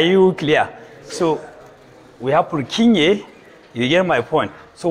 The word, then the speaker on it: Purkinje: bulking kind of neurons this one you know you will see is j what is pronounced as ye so it's not plucking g it's broken fibers are you clear so we have purkinje you hear my point